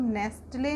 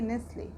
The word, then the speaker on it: nestle: NESTLE, इसको हम नेस्टले नहीं बोलेंगे, इसको हम बोलेंगे नेस्ले। नेस्ले, क्योंकि टी हमारा साइलेंट है, क्योंकि टी लेटर से पहले हमारा S लेटर है, इसलिए हम इसको बोलेंगे नेस्ले।